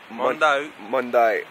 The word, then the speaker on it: Monday: Mondai. Alright, I'm gonna fuck that up. Salto del Mondai. It's not Monday, how it's spelled, not lunes.